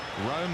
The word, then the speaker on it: Room: Rome again, spelt Room, pronounced Rome, and in his white